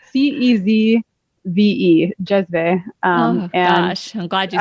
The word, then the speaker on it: cezve: It's spelled CEZVE, jezve.